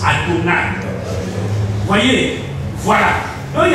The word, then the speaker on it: Adonai: Et quand on le rencontre, on le prononce Adonai.